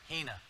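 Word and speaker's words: ἵνα: Hina is the Greek word that's how you pronounce it Hina and it's telling you this is the purpose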